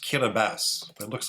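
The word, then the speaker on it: Kiribati: to fall into all four hemispheres uh it's pronounced kabas but it looks like kabati yes uh Kass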